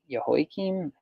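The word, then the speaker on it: Jehoiakim: of Babylon came up in yahoi Kim is how you say hi king became his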